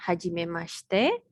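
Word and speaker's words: はじめまして: Jadi yang pertama ini bacanya hajime mashite.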